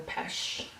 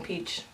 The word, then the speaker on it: pêche: highlighter it's a no.5 it's pronounced sparkling pêche it's um like French but I just say sparkling peach because why not anyways this is one